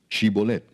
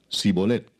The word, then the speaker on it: shibolet: Si él respondía, "No, entonces le decían, "Ahora pues di shibolet." Y él decía, "Sibolet, porque no podía pronunciarlo correctamente."